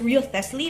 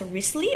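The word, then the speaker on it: Wriothesley: I pronounce it as Real Thesly, but I think they pronounce it as Risley or something.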